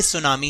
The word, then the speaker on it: tsunami: पर लिखा है कि सुनामी हम इसको थी साइलेंट करके सुनामी ही पढेंगे सुनाओ विदाउट वेस्टिंग टाइम